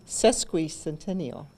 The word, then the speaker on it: sesquicentennial: during the cesspool continual am i pronouncing that right you say no so correct me sesquicentennial sesquicentennial that is the 150th